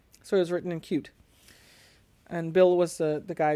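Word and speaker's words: Qt: interface it was written in a language called cute which is spelled capital q lowercase t so it was written in cute and bill was the guy behind that so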